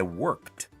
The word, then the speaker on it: worked: não é worked, é worked. Alguns verbos esse E é pronunciado, ed, mas a maioria deles o E não pronuncia, só pronuncia o D.